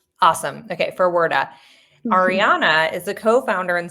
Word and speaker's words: Ferwerda: My name's Ariana Ferwerda. Awesome. Okay, Ferwerda.